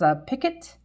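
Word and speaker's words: picot: Now, to finish off this, um I think I think it's pronounced a picket. It's P I C O T.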